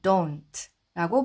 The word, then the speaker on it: don't: 우리가 DO 이렇게 됐을 때는 우로 발음을 하는데 이때는 우로 발음하지 않고 발음해서이 단어는 don't don't가 아니라 don't라고 발음하시면 되겠습니다.